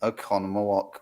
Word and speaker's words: Oconomowoc: Oz screened ever was the Strand Theater in Oconomowoc, Wisconsin. Did I say it right? You did. I've lived here long enough to pronounce those Yeah, right.